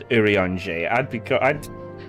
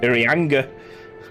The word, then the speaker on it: Urianger: See, if I was to say that, I wouldn't pronounce that as Urianger. I would have said Urianga.